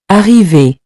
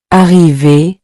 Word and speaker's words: arriver: At the end of these verbs, ER sounds like A. The same sound you hear in the word say, so the R is not heard separately.